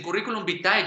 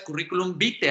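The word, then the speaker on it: curriculum vitae: y que mucha gente muchas personas dicen currículum vítae yo no sé por qué es lo correcto es currículum vite así se debe leer porque recordemos que la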